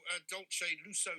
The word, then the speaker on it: Dolce Lusso: tell us about your adult shade lusso cakes am i pronouncing it right yes you are um i am a